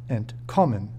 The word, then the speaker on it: entkommen: It is important to know that, when pronouncing inseparable prefix verbs, the root of the verb, and not the prefix, will be stressed, entkommen.